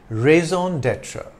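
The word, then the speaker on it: raison d'être: term of my viewers Valkyrie and rsr typeu rezone datra it means reason for being a reason to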